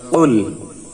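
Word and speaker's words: قُلْ: কুল কফের উচ্চারণটি জিহ্বার গোড়া তার বরাবর উপরে তালের সঙ্গে লাগিয়ে একটি আওয়াজ হবে, টাচ করে একটি আওয়াজ হবে কুল। এখানে যদি কফের মাখরাজ ঠিক না হয়, কফের স্থানে কাফ উচ্চারিত হয়ে যায়, তখনই অর্থের পরিবর্তন হবে এবং মারাত্মক অর্থগত পরিবর্তনের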